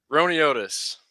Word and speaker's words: Roiniotis: Ron Otis. Ron Otis.